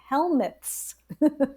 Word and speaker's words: helminth: do we all have helminths? Yep. How do you pronounce this?